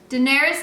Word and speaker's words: Daenerys: to Google how you say her name Daenerys Targaryen Daenerys Targaryen and while I was way